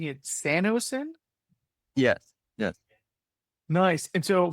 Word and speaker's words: SanoSyn: And so, am I right in pronouncing it SanoSyn?